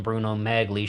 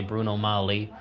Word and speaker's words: Bruno Magli: because I did - for the longest time I called them Bruno Magli shoes now I say Bruno Molly both are okay according to me I